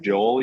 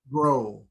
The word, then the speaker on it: Grohl: Dave Joel, you said? Grohl.